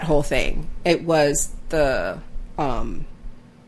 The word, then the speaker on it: Sturmhond: Sturmond? No, how do you say his name? Sturmhond.